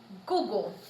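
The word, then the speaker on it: kuku: So for example, Google is spelt K-U-K-U, but pronounced like G-U-G-U, Google.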